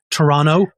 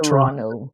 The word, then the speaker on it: Toronto: in Toronto not Toronto yeah we have to say it right and and actually there's another the indigenous pronunciation I have not mastered the indigenous pronunciation of Toronto is ticaranto I think yeah very